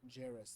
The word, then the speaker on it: Djarus: Jairus. That's DJARUS. Jairus. The D is silent.